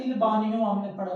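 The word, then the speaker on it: bagno: GN जब भी इकट्ठा आता है तो आवाज N की आती है। अच्छा जी, अच्छा जी, सबसे पहले हमारा आएगा बानियों के अंदर वास्का दा बानियो।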